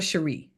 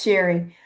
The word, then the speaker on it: Cherie: Cherie, am I saying it right? I was like, it's either Sherry or Cherie. It's Sherry. Sherry.